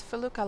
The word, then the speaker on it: Felucca: It is Felucca, like L.